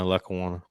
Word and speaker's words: Lackawanna: Had a few seizures, needed to get that under control, went to Hutchinson Community College, and then transferred Lackawanna. Is that how you say it? Yeah, Lackawanna.